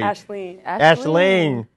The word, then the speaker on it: Aisling: It's AISLING and then a pear. And then a tree. Put it together, and that's Aisling. Aisling. No, G. The G is silent.